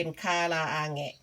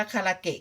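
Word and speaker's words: 唐揚げ: สำเนียง แบบ นี้ ค่ะ อัน นี้ คาราอาแหงะ นะ คะ คน ญี่ปุ่น จะ ออก เสียง เป็น คาราอาแหงะ แต่ ส่วน มาก คน ไทย ก็ จะ พูด กัน ว่า คาราเกะ คาราเกะ บาง ที ป้า แป๋ว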